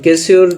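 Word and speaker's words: Casio: কিন্তু কেসিউ ব্র্যান্ডের, বা কি উচ্চারণ করে এটাকে, কেসো, কেসো না কেসিউ, আচ্ছা আমি কেসিউ বলি। এগুলো সব কিন্তু কেসিউ ব্র্যান্ডের, এই সবগুলো মডেল কিন্তু কেসিও ব্র্যান্ডের, ঠিক আছে। তো কেসিওর ব্র্যান্ডের নাম হলো কেসিও, এবং এই যে শুরুতে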